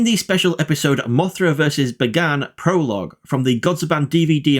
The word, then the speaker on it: Bagan: Let's continue with Bagan. Bagan, which my British brain really wants to pronounce as Bagan like the character Fagin from Oliver Twist, but I will refrain from doing so, first appeared in the